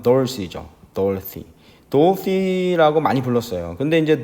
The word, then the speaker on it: Dorothy: 그 미국에서는 뭐라고 부르냐면 우리말로는 이제 도로시인데 미국 발음으로는 dorothy죠.